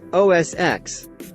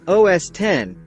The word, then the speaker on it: OS X: pronunciation it's actually said os10 because of the fact that it is the 10th operating system developed by The Firm X is just a Roman numeral that means 10 which could be part